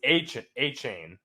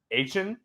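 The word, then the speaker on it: Achane: Yeah, I feel like it was A-chain. That's what they said a lot. A-chain. And he came out and said it's A and then C-H-A-N. So Achan? I don't know.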